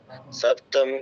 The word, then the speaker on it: সপ্তমং: চন্দ্রঘণ্টেতি, কুষ্মাণ্ডেতি চতুর্থকম, পঞ্চমম স্কন্ধমাতেতি, ষষ্ঠ্যং কাত্যায়নী তথা, সপ্তম কালরাত্রিতি, মহাগৌরীতি চাষ্টমম, নবমং সিদ্ধিদাত্রীশ্চ নবদুর্গা প্রকীর্তিতাঃ, উক্তান্যেতানি নামানি ব্রহ্মণৈব মহাত্মনাঃ, মহাত্মনা। আচ্ছা, উক্তান্যেতানি নয়, উক্তান্যেতানি, ঠিক আছে? আর সপ্তম নয় কিন্তু, সপ্তমং অনুচ্ছেদটা বাদ দিলে তো চলবে না।